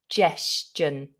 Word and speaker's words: suggestion: Lots of my students struggle with this j sound as well. J, like a J. J, like jam or just or Juliet, if you like Shakespeare. J, suggestion. Suggestion. Now you hear you've got that j twice in the word as well, haven't you?